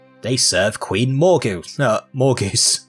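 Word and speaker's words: Morgause: serve queen morgan no more goose or more gauss priest is pronounced more goose but whatever i bring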